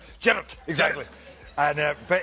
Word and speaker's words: Gerard: Okay, in Scottish, Gerard. Gerard. Gerard. Hey, Gerard. Gerard. Like that, yeah.